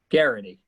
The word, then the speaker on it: Gerety: And is it a hard G or a soft G? Gerety. Gerety, okay.